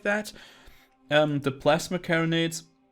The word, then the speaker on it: carronade: The plasma carronades, carronade I think is the correct pronunciation here. They're kind of like your shotgun, if I understand this correctly.